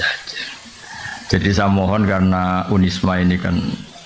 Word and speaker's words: Unisma: Jadi saya mohon karena UNISMA ini kan biasanya bacanya UNISMA apa Zunisma? Unisma. Unia sudah berarti sudah Indonesia banget. Saya tuh masih menangi orang baca Zunisma Zuii. Karena setengah Indonesia setengah rodok mambu-mambu Inggris.